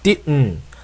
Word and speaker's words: didn't: 자, 이럴 때는 혀끝을 입천장에 붙인 상태에서 혀를 떼지 않고 콧소리로 하는 겁니다. 그래서 didn't, didn't라고 하시면 혀를 뗐다가 다시 또 동일한 발음을 두번 하는 겁니다. didn't.